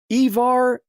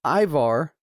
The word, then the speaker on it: Ivar: get the names right because it's Ivar I don't know if it's Ivar or Ivar but it's it's spelt IV a R so it's Ivar characters from so they